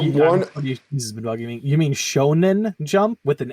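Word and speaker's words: shōnen: what I was saying you kept saying shoan I'm sorry I meant Shonen yeah you kept you kept pronouncing it with a J I'm mispronouncing everything today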